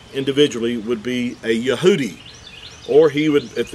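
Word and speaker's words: יהודי: use the word Jew today but it's actually yahoodi is how you would uh you would identify a Jewish person individ ually would be a yahudi or he would if it's a group of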